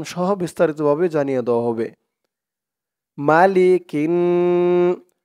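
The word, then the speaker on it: مَلِكِ: মালিকিন, calf নুনজের কিন, মালিকিন। নুন আলিফ জবর না, মালিকিন না।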